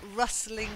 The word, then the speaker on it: rustling: way around them then rustling has a silent T it's not like dry